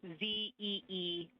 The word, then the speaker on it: Zeeman: I may be pronouncing that wrong. What's the first letter of that word? Zulu. It's Zeeman.